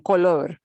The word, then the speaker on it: color: The odd thing about this one, calor, color, the difficulty people may have listening to you say those two words is not from the trilling of the R. It's from not getting this sound right versus this sound right. Because they will sound pretty much the same if you schwa it.